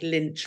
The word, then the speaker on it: Lynch: It doesn't help that, of course, Mike Lynch rhymes with Grinch.